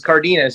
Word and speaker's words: Cardenas: I want to see actual pronunciation, brother. Yeah, it's Cardenas.